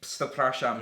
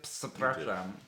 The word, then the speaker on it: Przepraszam: It's a PRZ. It's just like, because I remember we were saying to Christoph, like, "Oh, you don't pronounce the P." Oh, you do. It's just like, you do. Do you really? It's like Przepraszam.